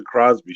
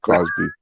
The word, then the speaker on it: Cosby: What's the Crosby Show? Sorry, did I say it wrong? It's Did I say it wrong? I apologize. I'm Canadian. I'm Canadian. It's Canada Day tomorrow. Crosby. That's all right. No, Cosby.